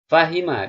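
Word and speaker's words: فَهِمَ: Fahima, di sini huruf kedua berbaris bawah, begitu pula dengan fi'il wazan ya.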